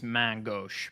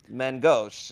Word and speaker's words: main gauche: Technically, the French is main gauche, but nobody is going to say that. Main gauche. I could not find the. Gauche. I forgot where the main gauche was for a little bit, which didn't help me.